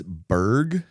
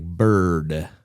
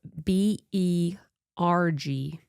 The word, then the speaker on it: Berg: It's Berg. B U R G. I thought Oh, they spell it because the way they said it, it sounded like bird.